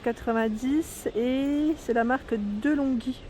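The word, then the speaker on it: De'Longhi: et c'est la marque de longhi je te rassure le prononce comme ça delonghi peut-être de mettre chaudière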